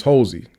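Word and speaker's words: Holsey: census and told them hey my name is Hosy and the person writing it down might have said uh how do you spell that they don't ask the person or they just write it down.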